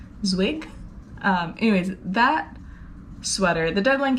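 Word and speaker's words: Zwieg: But anyways, the deadline for my, I think it's pronounced Zwig, Z-W-I-E-G, Zwig.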